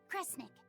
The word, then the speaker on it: Kresnik: Sound it out. Cre, Snira, Cre, Snick. Kresnik. Kresnik feels right somehow.